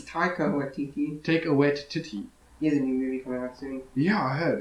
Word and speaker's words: Taika: to call it um you're saying his name wrong yeah take a wish too it's taika yeah i heard it's